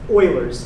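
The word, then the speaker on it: Euler: E is a special number called um Oilers's number spelled E U L E R, but it's pronounced Oiler cuz it's um it's German.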